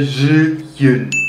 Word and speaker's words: Zhiyun: Alam mo, tinawagan ko pa yung ano ko, yung ex ko na Chinese para lang alamin ko paano i-pronounce. I still don't know if I can pronounce it correctly. Pero yun nga, sabi niya Zhiyun.